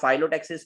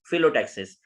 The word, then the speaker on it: phyllotaxis: Actually leaf को तो इसी वजह से कुछ लोग इसको फाइलोटैक्सिस पढ़ते हैं तो वो गलत है, तो इसकी राइट प्रोनाउंसिएशन है फिलोटैक्सिस.